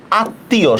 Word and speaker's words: আত্মীয়: এটার উচ্চারণটা হবে আত্মীয়, সরেয়া ত হসন্ত, তয় রস্বীকার, অন্তস্তীয় ওকার দিতে পারেন অথবা শুধু ও দিতে পারেন।